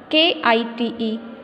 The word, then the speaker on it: kite: Word like K-I-T-E, kite, that end in E have a long I sound and the second vowel E stays silent.